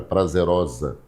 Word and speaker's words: prazerosa: prazerosa. Prazerosa. Percebeu aí, né? A palavra prazerosa, o S, lá no fim da palavra osa, o S tem som de Z. Por quê? Ele está entre duas vogais.